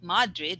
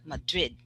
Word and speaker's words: Madrid: okay it's quick okay the stress is on the second madrid okay so yeah not madrid but madrid okay yes thank you next